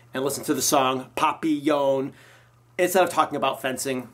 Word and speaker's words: Papillon: I have not seen the Jackson Papillon. Is that how you say it? Papillon.